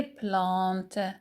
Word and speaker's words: plantes: Q je m'occupe je m'occupe des plantes plantes des plantes la marque du pluriel s est muette je m'occupe c'est le